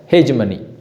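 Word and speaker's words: hegemony: और दूसरा जो वर्ड है, ये इसका प्रोनाउंसिएशन हेजमनी। आप जैसे भी कर लीजिए, लेकिन इंडियन कॉन्टेक्स्ट में जो भी आप कर सकते हैं, लेकिन एक्चुअल जो है हेजमनी।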